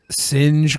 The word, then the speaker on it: Synje: Shout out to him for making our Singe graphics. Yeah, Singe graphics. Yeah, that's how it's said.